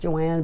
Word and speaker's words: Joan: My first name is pronounced Joanne, but it's spelled Joan, Joan.